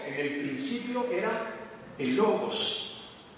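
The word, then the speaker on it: λόγος: Pues viene de una palabra griega que se pronunciaría más o menos así, logos. Y algunas traducciones lo ponen así, como el verbo, y otras traducciones lo ponen como palabra.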